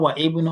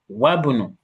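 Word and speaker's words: وابن: It's not wa ibnu or wa ubnu. Wabunu. Yeah? So the moment you have a letter before the Hamzatul Wasl, the Hamzatul Wasl will be omitted in pronunciation, not in writing.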